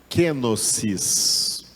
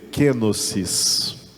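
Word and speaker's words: κένωσις: qual Paulo escreveu é uma palavra que se pronuncia assim kenosis queis então diga aí kenosis kenosis é a doutrina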